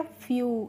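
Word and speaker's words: few: ऐसे ही एफ ई डब्ल्यू है तो एफ से हो गया फ और ई डब्ल्यू का हो गया यू। तो यह हो गया फ्यू।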